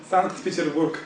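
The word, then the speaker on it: Санкт-Петербург: And how do you say that in Russian? Sankt Petersburg.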